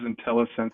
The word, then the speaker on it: Intellisense: tell us more about intelligence I hope I pronounced that right intelligence technology you did indeed it is intellisense and I'd be glad